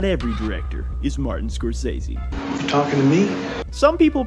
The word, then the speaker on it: Scorsese: of crazy but not every director is Martin Scorsese talking to me some people pronounce it Scorsese his films are very violent always messy he